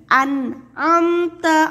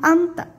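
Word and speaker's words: أنعمت: sampai terbalik ulangi lagi an amta alaihim sekali lagi an amta alaihim karena biasanya suka terbalik membacanya jadi amta padahal ada huruf n di sana Nun an amta alaihim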